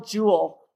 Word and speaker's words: jewel: That's how we spell jewel, but it's it sounds kind of like the word j we l jewel. Okay? Because we just pronounce them both with one syllable.